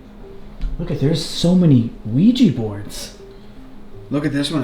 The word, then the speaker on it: Ouija: interesting different even books dude Ouija they're showing how it's pronounced I didn't even know it was Ouija yeah I know me either I think all of us have always said Luigi well there's a lot